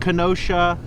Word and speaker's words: Kenosha: similar uh same area how do you pronounce it canonical wisconsin wisconsin just what kenosha kenosha and this is